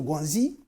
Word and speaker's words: guanxi: Là, je le dis, je le prononce pas en français. C'est le guanxi.